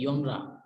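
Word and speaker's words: genre: Then है योनरा. Basically इसको कुछ लोग जैनर पढ़ते हैं. जो करेक्ट प्रोनाउंसिएशन है इसकी वो है योनरा. योनरा और जॉनरा भी आप इसको कह सकते हैं, लेकिन जैनर नहीं है कोई प्रोनाउंसिएशन.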